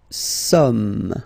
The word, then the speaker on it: sommes: Nous sommes, okay? So you don't pronounce the final S here. It doesn't exist.